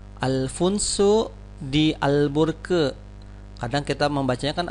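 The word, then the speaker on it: Afonso de Albuquerque: ya bacanya Bagaimana ini kalau bahasa portugisnya adalah Alfonso d'albuquerque lagi ya Alfonso dial burke kadang kita membacakan Alfonso de Albuquerque Hai nah ulangi lagi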